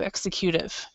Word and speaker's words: executive: lot of things, but it's a completely different pronunciation. So executive. So if you could repeat that, executive. So, okay. Executive. Does that make sense? Executive. So the stress is completely in a different place.